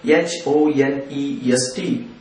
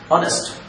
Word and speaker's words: honest: with h honest person honest person starting with h o n e s t starting with h horse was starting with h